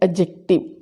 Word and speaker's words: adjective: सबसे पहले एडजेक्टिव की जो प्रोनाउंसिएशन है, जो मोस्टली हम लोग गलत बोलते हैं, इसमें डी साइलेंट है। उसको हम एडजेक्टिव नहीं एडजेक्टिव पढ़ेंगे। इसकी राइट प्रोनाउंसिएशन है एडजेक्टिव।